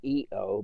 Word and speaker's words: io: o which is not eo but in italian the first person singular for i is pronounced eo in other words in